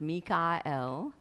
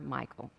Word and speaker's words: Michael: German all of these share the L sound which is the word that means God so I will refer to him sometimes as mika l which is the way